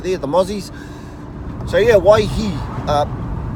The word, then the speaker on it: Waihi: I mean there are the odd people they pronounce it with a wine so today's place name is white he say why he alright why he I have heard people stretched in the why